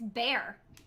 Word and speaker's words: Bexar: ask you a question how would you pronounce a place that's named b e x a r XR no good try no that wasn't condescending at all Chrissy do you know I know I've heard it properly pronounced but I don't remember what it is no it's called it's bear it's just what no